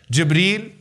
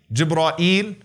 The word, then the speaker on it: Jibreel: name of gibreel Iceland what are some of the ways to pronounce his name gibreel jibra eel zebra ill jibra eel Janine those are five ways that have been narrated through the various gods all right debris